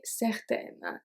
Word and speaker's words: certaine: Être sûr et certain, être sûr et certaine. So the pronunciation of sûr doesn't change, but certain is going to become certaine if it's feminine.